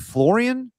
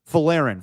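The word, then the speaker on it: Folarin: Is it Florian? Yeah, Floren. Ferin. Ferin is how you pronounce it.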